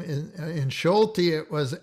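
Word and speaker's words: Solti: the next one george schulte here is the s without the z and so it's uh shh it's pronounced as it were sh george schulte and we'll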